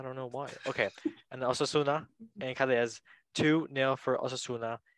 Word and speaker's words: Osasuna: Fourth place, Asunia. How do you say that? Fourth place, Asunia? Osasuna? Osasuna. Osasuna. Okay, got it.